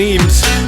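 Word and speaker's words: Emes: It's Sebastian Eames. Spell that one for you, E-M-E-S.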